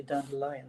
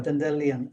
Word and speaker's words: Dandelion: Dendelion, you say, right? I usually say Dandelion, but I learned that that is the wrong pronunciation. Uh Dendelion, he writes the story of of your adventure.